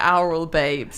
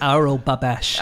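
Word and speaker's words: Aurel Babeș: I think you probably say Oral Babes. It's Oral Babesh.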